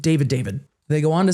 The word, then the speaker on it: D4vd: Again, I'm not pronouncing it D4vd. David.